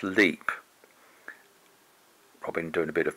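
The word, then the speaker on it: Lepe: old house that's a leap house perhaps I should say that leap house is spelled unusually l-e-p-e but it's pronounced leap probably doing a bit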